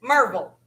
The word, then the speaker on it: Maryville: the spelling first spelled m-a-r-y-v-i-l-l-e some people refer to this as maryville and some people refer to this as marvel now it just depends